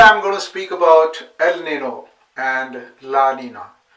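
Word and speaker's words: El Niño: going to speak about ELO and Laina they are actually pronounced as Al Nino and La n but I'm more comfortable with ELO and Lina what are these phenomenon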